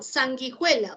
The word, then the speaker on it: sanguijuela: Pregunto, ¿la U se pronuncia? No, ya, listo, gracias.